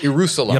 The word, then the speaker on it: Ierusalem: This game is called Ierusalem. Jerusalem. Anno Domini. Okay? Ierusalem is spelled like Jerusalem with an I.